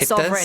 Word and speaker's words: sovereign: And don't you love it when English just throws a little secret G in there for no reason? 맞아요. Sovereign. Yeah. 여기 스펠링에 G가 들어가 있지만 발음에는 나오지 않습니다. 네. It's a silent G.